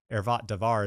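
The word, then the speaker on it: עֶרְוַת דָּבָר: It's called ervat davar ervat Devar is how you say it in Hebrew and usually English translations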